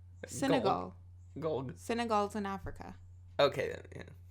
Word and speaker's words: Senegal: africa say it again senegal just because you hear it wrong doesn't mean i'm saying it wrong it sounds like you're like synagogue senegal synagogues in africa okay